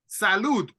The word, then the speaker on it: salud: Health like to have good health you say salud salute let me write it here so you